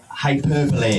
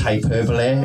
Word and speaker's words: hyperbole: yeah taught me that hyperbole is pronounced Hyperbole and not hyperbole you know when you